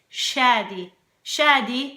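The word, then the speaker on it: Shadi: but in Arabic it's it's not shady like shady like Slim Shady please stand up it's Shady shady is as the guy's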